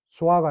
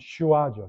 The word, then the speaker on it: 수아: 수아가 아니고 사실 정식 발음은 슈아죠. 슈.